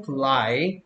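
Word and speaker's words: fly: 에어 드라이 가 아니고 플라이 플라이 어필 등도 그래서 엘의 소리가 뭐 니까 으 니까 후 아이가 아니고 프라이가 아니고 플라이 라고 발음해야 되요 후라이는 내가 풀어야 겠죠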